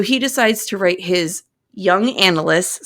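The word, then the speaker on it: Jungian: is struggling so he decides to write his young analyst spelled j u n j u n g i a n it's pronounced y like the word it's Yung but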